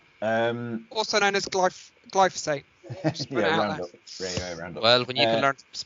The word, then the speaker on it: glyphosate: what is your thoughts on the importance of glyphosphate to a noil system um also known as gly glyphosate well when you can learn pronounce Chas you